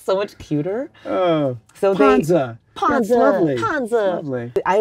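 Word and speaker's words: 胖子: Like panzi.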